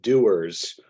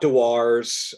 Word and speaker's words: Dewar's: the wonderful Folks at doers uh not dwars uh I I had to learn how to say the brand correctly in recent years but how did that